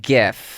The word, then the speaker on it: GIF: GIF. Oh, absolutely. It's a soft G.